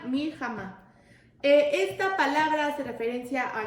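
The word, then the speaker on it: מלחמה: salgas a la batalla, está escrita la palabra milhamá, así como suena, milhamá.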